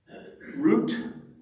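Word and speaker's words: רות: Root is, I think, how it's pronounced in Hebrew, and that's what it looks like.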